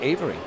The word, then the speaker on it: Avera: Oh, pronounced Avery. He's got it pronounced Avery in his bio, and that can't be ours.